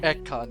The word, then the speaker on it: Ekon: Ekon is how it's pronounced.